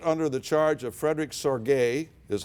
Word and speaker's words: Sorge: it was put under the charge of Frederick Sorge is how it's actually pronounced Sorge in English he is the the grand Uncle